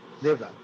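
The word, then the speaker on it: Deoghar: Bajla Mahila College, Yes, Devdar, sir. right? It should be pronounced as Devdar, right? Yes, sir. Devdar, right.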